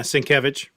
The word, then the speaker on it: Sienkiewicz: But I've been reading some like the Doug Moench Moon Knight, Bill Sienkiewicz. Is that how you say it? Yeah, Sienkiewicz.